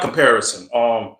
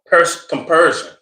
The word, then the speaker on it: compersion: It's called comparison, where not comparison, compersion.